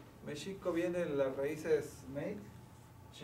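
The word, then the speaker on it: Mēxihco: porque acaba en co entonces en en ag se dice meico meico viene las raíces ch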